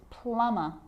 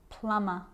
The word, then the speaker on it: plumber: romantically musically logically now there's a rule to remember with the letter B it's always silent when it follows the letter M climb Krum lamb thumb dumb and plumber so practice them with me I'm not pronouncing the B I'm just pronouncing the M consonant sound climb Krum lam some